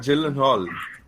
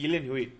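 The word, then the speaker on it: Gyllenhaal: Jake Jake yeah sorry can anybody can anybody pronounce the surname know Jake properly I so confused is it not Jill and Hall no it's not Jill and Hall he says himself it is Jake Yen Hui what what so Jake y that's that's how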